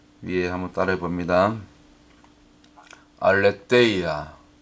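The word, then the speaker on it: ἀλήθεια: 위에 한번 따라해 봅니다 알레데이아 알레데이아 혹은 보통 우리가 신학교 다닐 때 알레 세이라 배웠는데 여기 가운데 보면 여기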